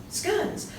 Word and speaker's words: scone: Yes, scones. Believe me, I laughed many times when I went to Australia to visit my relations. It's pronounced scones.